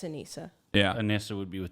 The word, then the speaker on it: Anisa: Yeah, it's Anissa.